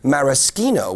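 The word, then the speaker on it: maraschino: for example then there's mariskino which is a very important leure for cocktails and that's from the morasa cherry and yes that is how it's pronounced in Italy which is where it comes from well now for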